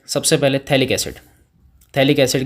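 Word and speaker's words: phthalic: P silent है, थैलिक acid अपन इसको बोलते हैं, ठीक है।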